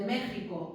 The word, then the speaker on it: México: Ya os he dicho también que la X de México y de Texas en realidad no es una